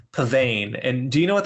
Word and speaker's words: Pavane: what is it so the title is Pavan and do you know